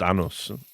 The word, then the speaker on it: Anders: It's just cuz, you know, like the Danish pronunci pronunciation is different enough that, you know, when people say and does like with the with the D that it it is a little bit different, but obviously it's not name isn't anus.